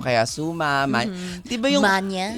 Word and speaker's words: magna: summa, di ba yung Manya? Yung manya cum laude naman talaga yung tamang pagbigkas, hindi Yes. magna, di ba?